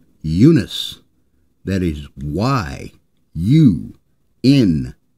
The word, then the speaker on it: Yunus: that you don't hear his name is not pronounced Jonah it's pronounced Yunus that is why you